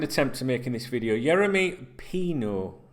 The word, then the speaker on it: Yeremy Pino: Yeremy Pino. I always want to say Pinos.